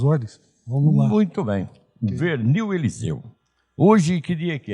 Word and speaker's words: Vernil: No meu nome, a pronúncia na família era Vernil. Vernil. Seria o correto aqui. Seria, digamos assim, um sotaque bem francês. Francesado.